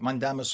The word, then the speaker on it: mandamus: Yeah, I was reading the judge ordered a rid of mandamus which is mandamus in Latin and that's how it's pronounced in Latin is is we we shall command or we command and a writ meaning a letter.